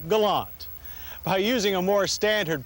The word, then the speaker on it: Galant: Galant sedan in 1985, they wanted automotive journalist types to pronounce the car's name Galant. We did, even though the public laughed when we did it. Well, now there's a new Galant, and this time Mitsubishi wants us to pronounce the name the way it reads, Galant.